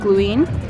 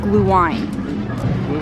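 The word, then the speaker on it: Glühwein: of the previous videos we were calling it gluing we have confirmed it is pronounced blue wine so yeah don't roast us for saying it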